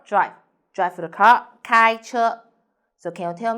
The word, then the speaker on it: 开: i'm sunny the word of the day is kai in this video i will teach you how to pronounce it how to write it and how to use it okay first let's read together kai kai ku kai okay peter so today we'll learn